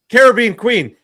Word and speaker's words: Caribbean Queen: say it weird doesn't SAY IT RIGHT HE DOESN'T SAY like caribbean queen he says caribou queen yeah